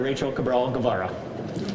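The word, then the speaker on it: Rachael Cabral-Guevara: Now, please welcome our state senator, Rachel Cabral Gavara.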